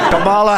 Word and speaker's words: Kamala: I know you have so much trouble pronouncing her name. Kamala Harris, you can say Kamala, you can say Kamala.